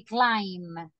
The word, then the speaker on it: climb: listen to the pronunciation you're not going to say climb is M right so you say climb let me see Aha and how do you pronounce how do you pronounce this verb in ing how do you pronounce it climbing excellent moris very good excellent repeat please climbing excellent letter B no we don't pronounce it so we say climbing